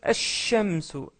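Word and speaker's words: الشمس: Pareil pour shamsun, on prononce ash-shamsu. Ash-shamsu. Le L, il est muet.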